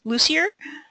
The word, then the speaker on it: Lussier: And for this evening's presentation, I'm going to introduce Angela, and I should have asked you how to pronounce this first, Lussier.